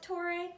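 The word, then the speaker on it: Torre: I pronounce it Tory, which is like this castle of healers.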